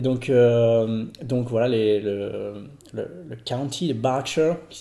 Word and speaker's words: Berkshire: And Berkshire isn't spelt like it sounds. Yeah. So Berkshire is written B-E-R-K-S-H-I-R-E. All right. And you pronounce it Berkshire. Berkshire. Not Berkshire. No, Berkshire. Right.